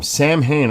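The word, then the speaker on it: Samhain: Um, Sam Hayne. I had to spell it that way because I would I didn't know that the AI would say it right.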